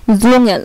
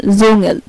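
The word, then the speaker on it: Dschungel: আচ্ছা, তারপর হচ্ছে যদি কোনো ওয়ার্ডে ডিএসসিএইচ একসাথে থাকে, যদি কোনো ওয়ার্ডে ডিএসসিএইচ একসাথে থাকে তাহলে এটার উচ্চারণ হবে বর্গীয় জয়ের মতো, যেমন জুঙ্গেল, এই যে ডিএসসিএইচ এবং জিএল, জুঙ্গেল।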